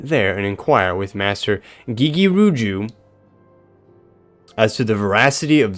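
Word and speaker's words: Gegeruju: Oh yeah, Gigiruju. Yeah. That's how you say it. Unless it's GG. Gigiruju.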